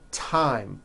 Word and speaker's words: thyme: spelled with a TH, they are pronounced as if they were spelled with a normal T, like that. And these words are Thomas, Thompson, Teresa, Thailand, Thames, like the river, Esther, and thyme, which is a spice.